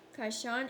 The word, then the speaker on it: Kishon: How to pronounce Kishon. Kishon, and execute them there.